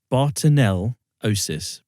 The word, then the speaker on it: bartonellosis: I can't pronounce it properly it's um Barton bartonell osis bartonellosis that's how it's pronounced this commonly called the crack cat scratch